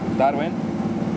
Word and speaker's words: Darwin: Darwin? No mate, it's pronounced Darwin with three A's. D-A-A-A-A-R-win. Darwin.